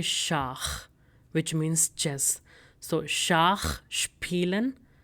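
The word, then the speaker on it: Schach: So we say shak which means chess.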